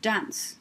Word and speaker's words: dance: word dance that's right final silent e is making the c say s and we touched on